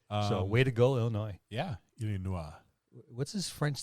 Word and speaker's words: Illinois: yeah the uh the state of Illinois it's pronounced Illinois that was close their their listenership has jumped